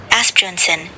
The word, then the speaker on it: Asbjørnsen: When Naub cites Absolutely no higher authority when it comes to folklore than Asbjørnsen and Moe, which is how we pronounce it. Asbjørnson, it anchors the Byttingen narrative in undisputed 19th century academic record.